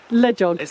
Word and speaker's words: LEJOG: And what are your top 5 tips for anybody who might want to run lead jog themselves? Is that how you say it? Lead jog? Le jog. I say it like hedgehog.